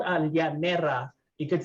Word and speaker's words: llanera: And for those who speak Spanish, in the Tagalog language, we pronounce the double L's as an LY instead of just a Y.